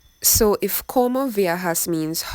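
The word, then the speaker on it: ¿Cómo viajas?: los mudos de transporte now this question is pronounced coma viajas and it means how do you travel so if como viajas means how do you travel what do you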